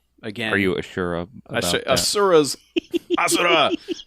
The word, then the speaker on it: Asura: Asura's Asura. That's actually how they say it in the game.